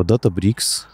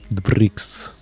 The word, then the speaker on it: Databricks: Debricks. Да. Ну, да как нет, DataBricks, понятно, что это, да, читается, это почитается DataBricks. Ну, это читается DataBricks, да, но называется она буквально DataBricks.